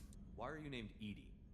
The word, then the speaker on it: EDI: Why are you named Edie? is the pronunciation of EI. That is an acronym for enhanced defense.